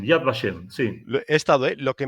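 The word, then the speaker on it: Yad Vashem: tenemos en Israel en Jerusalén el museo de yad bashem en donde está acreditado el bosque y el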